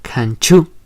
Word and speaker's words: canchú: Un ejemplo de su uso en el otomí es en la palabra canchú, que quiere decir limitado. Chu. Canchú es la ch del español.